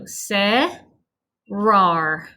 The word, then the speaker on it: cerrar: So cerrar. Cerrar. Of course, if you can, please roll your R's, but for the pronunciation, just write whatever you need to remember.